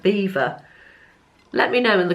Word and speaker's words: Belvoir: video previously I think is the Belvoir or do you pronounce that beaver I've got a feeling you've pronounced that beaver let me know in